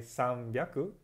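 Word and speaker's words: さんびゃく: 801 Catalunya 300 at 600 Marin chung special pronunciation so cool Nutella nuttin I'm Sam yaku sorry um 300 I sound yaku 600 i ropey aku 801 I hop pyaar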